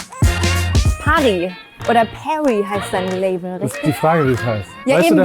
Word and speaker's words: Päri: "Pari" or "Päri" is the name of your label, isn't it? Yes, that's the question. Do you know what it stands for? Because you pronounce it "Päri".